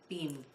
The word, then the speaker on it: Beam: And actually, it's Beam. That's how she pronounces her last name, Martina Beam.